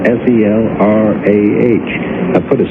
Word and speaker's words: Selrah: My real name is Selrah, S-E-L-R-A-H. I put a C in front of it, spell it backwards, and it makes.